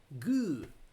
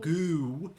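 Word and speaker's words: Gü: But uh gu not goo. G. That's a U sound.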